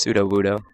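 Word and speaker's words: Sudowoodo: It's pronounced pseudo Wudo, Kenny.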